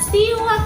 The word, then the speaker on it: siwak: akan perlihatkan ya 123 terang ya ini adalah siwak teman-teman hurufnya terdiri dari huruf wes gue gue wou gua bacanya si wakwaw nah ini dia iwaknya siwak